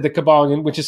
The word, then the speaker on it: Kybalion: these seven principles and as I said the cabalan which is spelled by with a k and a y by the way KY cabalan yeah if you look at your life and